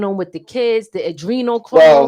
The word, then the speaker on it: Adrenochrome: Adrenochrome.